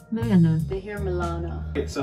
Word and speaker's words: Moana: Mona? Moana. They hear Milana. Okay, so how do you say your name correctly? Mo-a-na. A, not e. Moana.